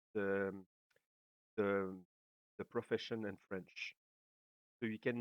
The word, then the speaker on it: profession: I pronounce each S separately, like an syllable different, like profession.